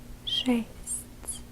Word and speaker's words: шесть: 6, But again, remember that when you're pronouncing it, you will be pronouncing it softer. Like if you would say a sound t's. So it would be шесть.